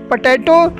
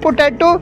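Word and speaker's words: potato: हैं यहां पर एक वर्ड है पटैटो एग्जैक्ट प्रनंसीएशन पटैटो होता है नॉट पोटैटोज है जिसका आलू हिंदी मीनिंग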